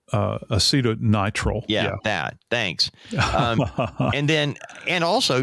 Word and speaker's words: acetonitrile: Acetronitrile? Acetonitrile.